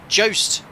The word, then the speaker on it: Jost: Oh, sorry, pronounced as ghost, but with a J. Jost.